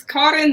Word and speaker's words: Karin: But have we been mispronouncing your name this entire time? You said Karin? Yeah, it's Karin, but it's okay. But in the U.S., it's Karen for everybody in the U.S., so it's fine.